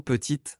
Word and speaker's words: petite: Par exemple, pour le mot petite, forme féminine de petit, la consonne T finale est prononcée.